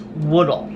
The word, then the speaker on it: Woodle: It's pronounced Woodle. Not Woodle, not Waddle, but Woodle. It's like you're saying dull wood, but like backwards.